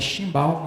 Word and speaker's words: chimbal: E o cimbal. O cimbal, na verdade é chimbal, né, que fala, a gente não vício, a gente acaba falando cimbal, mas até se escreve chimbal, mas ele já é todo aqui.